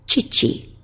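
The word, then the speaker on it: 父: Oto-san, that's someone else's father, and our own father is chichi.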